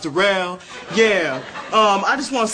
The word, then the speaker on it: Darell: It's spelled like Darrell, but pronounced Darell.